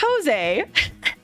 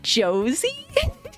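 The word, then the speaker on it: José: me and he wrote his real name it it's it's Jose but the white in me took over and I was like Josie and I was like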